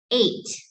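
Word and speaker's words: ate: you pronounce this word it's like the let the number eight that's how you say okay eight eight like the number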